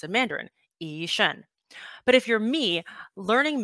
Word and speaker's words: Yi Shun: And Taiwanese, my name is pronounced Yi Shun with a hard G. Nothing at all like how it's pronounced in Mandarin, Yi Shun.